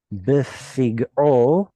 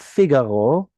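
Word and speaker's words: בפגעו: Goel Hadam hu yamit et harotzeach befig'o vo hu yimitenu. Okay, this is not Figaro. Figaro. What is it? Befig'o.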